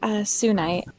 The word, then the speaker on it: Sunite: Wait, is it one word or two? It's a single word, Sunite.